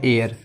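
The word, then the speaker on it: heir: ये जो एच है, एच लिखा हुआ है बट इसे साइलेंट मानेंगे, तो ये पढ़ा जाएगा एयर।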